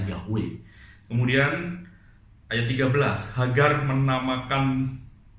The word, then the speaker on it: Yahweh: Malaikat Tuhan Tuhan itu sebenarnya terjemah dari YHWH atau bahasa dibacanya Yahweh.